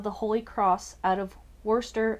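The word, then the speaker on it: Worcester: holy cross out of Worster Massachusetts I learned years ago that's how they say it Worster Massachusetts um name and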